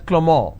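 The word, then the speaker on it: Clément: it's pronounced it Avril the name Clement is pronounced as clemor in French so the names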